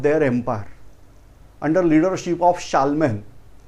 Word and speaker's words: Charlemagne: The Frank people developed their empire under leadership of Charlemagne. It was written as Charlesmen. While spelling, they are writing out Charlesmen, but they are the name of that person pronounced as Charlemagne.